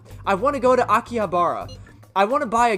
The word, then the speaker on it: Akihabara: wait we're meeting in akihabara is futaba really going to be okay we'd better get over there i think i put the emphasis on the wrong syllable akihabara also known as akiba